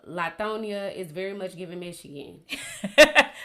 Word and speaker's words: Lithonia: Look at the Carla Hughes case in Mississippi, and Lithonia is pronounced like Lithonia, just for people from Atlanta.